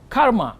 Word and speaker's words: karma: yoga straight the second one J taught is karma yoga karma is a Sanskrit word which means action Karma